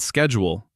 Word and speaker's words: schedule: And schedule. Americans say schedule. How do British people say it? Schedule. Schedule. The c h makes a sh sound in British English.